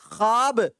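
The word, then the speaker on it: خواب: अब उसके बाद देखिए ख्वाब में क्या हो रहा है यहां खाब भाव जो ये साइलेंट है ये वो मॉड्यूल की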